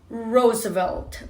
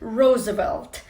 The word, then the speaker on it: Roosevelt: El presidente durante la Segunda Guerra Mundial era Roosevelt. Roosevelt. ¿Qué pasa aquí? R suavecita, Ro, que vibra como si fuera una Z, Rose, y la V también vibra. Roosevelt.